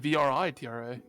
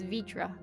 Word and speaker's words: Vrtra: be v i r i always read it as a free like vri vritra no it's vitra okay it's obvious you